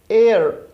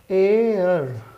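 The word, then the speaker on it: heir: ठीक इसी तरह से अगर एयर, इसको भी हम लोग पढ़ते हैं, एच साइलेंट है, एयर, एयर मीन्स होता है उत्तराधिकारी,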